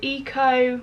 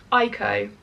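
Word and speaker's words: Eyeko: I did order this which is the Eco, no Eeko, I think is how you say it.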